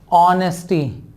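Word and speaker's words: honesty: इसका प्रोनाउंसिएशन अगर आप अगेन देखोगे तो हम इसका प्रोनाउंसिएशन भी करते हैं ऑनेस्टी, ऑ का साउंड आता है, यहां पर लगना चाहिए था एन, जो कि गलत जवाब हो जाएगा।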